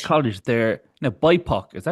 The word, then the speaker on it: BIPOC: They're now bipok. Is that how do you say that word or say BIPC? Bipok. No, but you can say Bipok.